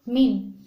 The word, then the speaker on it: mean: ini dadah normal lainnya nama lainnya itu Min tulisannya mean ya tulisannya Men tapi dibacanya men Kemudian pada lambangnya juga